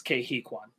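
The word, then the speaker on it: Ke Huy Quan: site uh but i just checked how to pronounce it it's kehikwan gotcha cool uh what was i saying sorry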